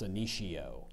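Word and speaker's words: Senecio: color to her kitchen CIO can also be pronounced cicio cicio siio cicio s e ne e c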